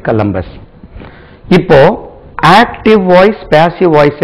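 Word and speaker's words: Columbus: ஸ்லபல் பஸ்ஸ கலம்பஸ்டிவ America கலம்பஸ் discover அது கோலம்பஸ் கிடையாது கலம்பஸ் கலம்பஸ்டிவ அமெரிக்கா கலம்பஸ் அமெரிக்காவை கண்டுபிடித்தார் அமெரிக்கா கலம்பஸ்ால் கண்டுபிடிக்கப்பட்டது அமெரிக்கா வாஸ் டிஸ்கவர் பை கலம்பஸ் இப்போ ஆக்டிவ் வாய்ஸ் பாசிவ்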